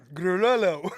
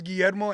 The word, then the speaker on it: Guo: Golo. No, there's no L here. Ger, my name is Guo and when people would try to pronounce my name in Tennessee, they'd be like Galler.